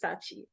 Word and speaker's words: Scaachi: Please, the last name pronunciation, I just vibed it out, okay? But I know it's Scaachi.